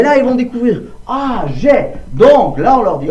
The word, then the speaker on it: j'ai: J'ai, parce que c'est le seul qu'on peut lire AI, qu'on peut prononcer est. On écrit AI, mais on prononce est.